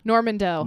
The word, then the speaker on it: Normandeau: Normandeau.